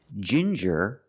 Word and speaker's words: ginger: With ginger, we use the j sound like juice and jump. J and the regular n.